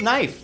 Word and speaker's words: knife: Look at knife. The K is silent.